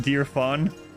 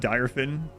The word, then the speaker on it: Direfen: m I lost dear she pronounces it dear fan dear fan instead of dyin it does yeah I